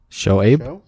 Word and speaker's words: Shoaib: Show is how you say that. Abe. Show Abe.